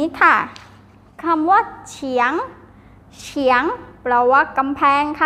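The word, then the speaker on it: 墙: คำ นะ คะ คำ นี้ ค่ะ คำ ว่า เฉียง เฉียง เฉียง แปล ว่า กำแพง นะ คะ กำแพง บ้าน ใคร บ้าน ทุก คน มี กำแพง แน่ นอน ค่ะ ทุก คน มี กำแพง บ้าน นะ คะ อ่า อ่าน ว่า เฉียง เฉียง นัก เรียน ออก เสียง ตาม หลอ ซื้อ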